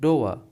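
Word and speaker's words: door: अब इसमें देखिए डोर इसे डोर नहीं पढ़ते हम लोग। डोर इसमें भी आर साइलेंट होता है। इसलिए पढ़ते हैं डोअर।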